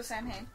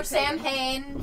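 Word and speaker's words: Samhain: Also, it's also Sam Hayne. Saw or Sanhane for those who don't pronounce it the way it's technically supposed to.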